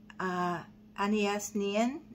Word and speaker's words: Anaïs Nin: And it's reminding me of that quote from Anaïs Nin.